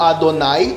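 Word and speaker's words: אדני: as a pronúncia de adonai por extenso. Toda essa ideia dos maçoretas, quando eles vocalizam o tetraagrama e dizem que deve ser lido Adonai, então a outra variação seria Elohim tem apoio no Talmud.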